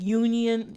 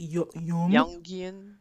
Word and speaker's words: Jungian: People A lot of people use it, like Union. I can never say his name. Use it Jungian.